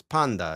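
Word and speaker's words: πάντα: But as far as the book is concerned, it's just it's panda. It's not it's not pa, right?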